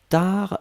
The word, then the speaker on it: tard: Passana attention tar c'est t A R d hein. Donc t A R D on ne prononce pas le D.